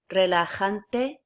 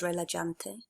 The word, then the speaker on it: relajante: Relajante. Make sure you're pronouncing that right and not as relajante.